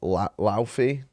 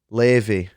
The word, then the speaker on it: Laufey: I'm going to say it wrong. Laufey? I know that's not how it's pronounced. And she was just so good, man. She was like 10 out of 10. Levy, that's it.